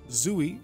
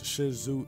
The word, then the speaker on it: Shisui: zoie and I know I pronounced his name so wrong is Shizu and we're playing against